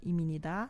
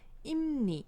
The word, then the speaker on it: 입니다: É muito comum no começo alguns alunos falarem dessa maneira iminida, né? Mas é imni, imni.